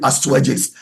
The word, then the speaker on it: Astyages: It's spelled A s t y a g like Ast y a g s, but they call it Astyages.